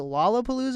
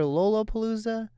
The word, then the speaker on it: Lollapalooza: i pronounced it wrong is it lollapalooza or lolopalooza you got it first time yeah how did you